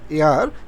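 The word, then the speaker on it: heir: একইভাবে আই অ্যাম অ্যান হেয়ার টু মাই ফাদার, এয়ার এইচের মতো উচ্চারণ হওয়ার কারণে এখানে অ্যান ব্যবহার হয়েছে।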